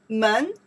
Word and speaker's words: 门: This character we pronounce the kou. Mouth. Kou. Yes. Kou. Okay. Kou. Kou. Put inside here. Okay. Kou. Men plus the kou.